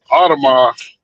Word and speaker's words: Audemars: Audemars.